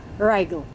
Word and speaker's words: Reigl: name is daniel reigel not sure if the pronunciation is right but by the end of this conversation you will be the judge of that mr rigel good morning and welcome good morning thank you and you have pronounced perfectly my last name you are too kind